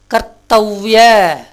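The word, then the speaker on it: कर्तव्य: ஆகையினால இதை எப்படி உச்சரிக்கணும்? தத்திய செய்தி. கர்த்தவ்ய, இந்த இவ் வந்து யா வந்திருக்குது.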